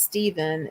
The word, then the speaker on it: Stephen: name is pronounced as Stephen that pH says the V sound last name is West